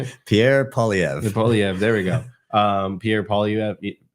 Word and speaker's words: Poilievre: And then in political sense, like even here in Canada, right, you have, I still cannot pronounce his last name, Pierre Poilievre, how do you say it? Pierre Poilievre.